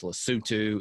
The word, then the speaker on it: Lesotho: out of our main facility in lesotho it's pronounced lesotho it's the little country inside of south africa